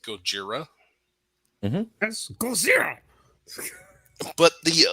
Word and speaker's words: Gojira: Godzilla actually um because the Japanese word is Gojira let's go zero but